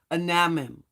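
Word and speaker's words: Anamim: begat ludum and Anan I'm told that I didn't pronounce that right anim yes that's correct anim and laim and Ne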